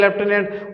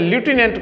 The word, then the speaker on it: lieutenant: ऐसे ही एक वर्ड है लेफ्टिनेंट, जिसको हिंदी में कहते हैं लेफ्टिनेंट और इंग्लिश में ल्यूटिनेंट कहा जाता है।